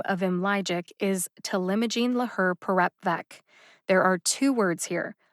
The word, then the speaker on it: talimogene laherparepvec: generic or non-proprietary name of him logic is telimojin laher perep vek there are two words here let's break them